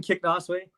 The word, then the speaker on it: Kicknosway: But it's Kicknosway.